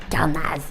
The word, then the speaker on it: Karnaz: Carnaz. Voilà, tu prononces à la malgache comme ça.